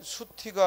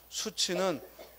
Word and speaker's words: 수치: 수치는 왜 수티가 아니고 수치냐? 이때는 또 구개음화라는 게 별도로 적용되는 거예요. 여기서는 이제 발음을 조심하자 하고 함께 넣어놨지만 수치는 구개음화라는 게 일어나서 수치하고 발음하는 거예요.